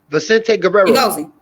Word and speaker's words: Vicente Guerrero: Vicente Guerrero.